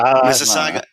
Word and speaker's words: Mississauga: Now, I want to know who on here can pronounce the town that I'm in. What, Mississauga? Mississauga.